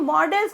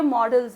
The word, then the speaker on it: modals: कि इन सभी perfect मॉडल्स को हमें कहाँ, कब, कैसे बोलना है। यहाँ तक कि बहुत सारे लोग तो मॉडल्स को भी मोडाल करते रहते हैं, तो ये मोडाल नहीं है, ये मॉडल्स हैं।